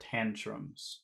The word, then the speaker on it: tantrums: phrase TS okay and which which uh syllable has all of the sound in the word Tantrums T Tantrums T Tantrums tantrum so that should be pretty big tantrum tantum Tantrums Tantrums